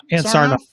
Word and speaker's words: Ann Sarnoff: How do you pronounce her name? Ann Sarnoff.